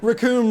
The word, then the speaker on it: Raccoon: Raccoon rhymes with doom.